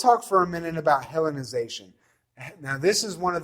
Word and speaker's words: Hellenization: first century in Palestine, is this idea of Hellenization. Do you have any idea what that might mean? How's it pronounced?